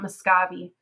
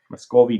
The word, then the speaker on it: Muscovy: that's that is persona probably pronounce it not muscavi muscovy duck i always um you always say miscavi and i always told